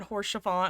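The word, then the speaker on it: Haurchefant: You could have repronounced his name it probably, but they were like, "Uh, harshant horse chiffon." I was like, "Yeah." And I looked it up and I'm like, "The H is silent.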